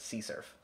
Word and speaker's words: CSRF: other places and yeah CSRF is often pronounced c surf and so we've got